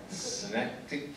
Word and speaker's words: Synecdoche: I'm going to mispronounce the title if you don't jump in and tell me what it's called. Synecdoche, New York.